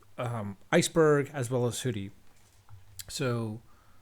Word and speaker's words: Hudi: now aach hoodie as spelled hu di I but pronounced as hoodie like a hood and Apache Iceberg are